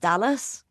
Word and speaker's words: Dulles: I should say, by the way, Chris, it's pronounced Dallas.